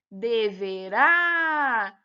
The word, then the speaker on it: deverá: Então, olha só, a primeira palavrinha, deverá. A sílaba pronunciada com mais intensidade é o rá, então é uma oxítona.